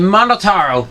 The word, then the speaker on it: Monotaro: I'm Monotaro. No matter how you read it or spell it, or say it, it's still Monotaro.